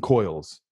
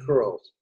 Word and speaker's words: Coyle: She said curls. Curls? The curls, yeah. Like, no, it's like some people in Ireland can't pronounce the oi sound.